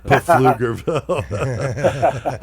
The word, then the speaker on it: Pflugerville: you're were gonna say Pflugerville Pflugerville silent p uh um so he